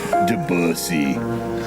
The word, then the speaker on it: Debussy: The elephant is completely enraptured by the Debussy, or however you say his name. Debussy. That's how we're going to say it.